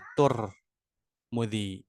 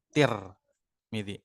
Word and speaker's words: Tirmidzi: Yang paling fasih itu adalah tur mudi tur. Tapi yang paling masyhur diucapkan menggunakan kasrah tir midi. Tur dengan tir.